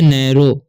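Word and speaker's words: narrow: वॉज नैरो, ठीक है, इसे पढ़ते हैं हम नै, ROO मतलब RRO से नैरो, OW का चरण यहाँ पर ओ होगा, ठीक है।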